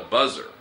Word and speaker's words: buzzer: So you could call it a buzzer. でもバザーは買い物するとこじゃないの？ Ah, we call that a bazaar.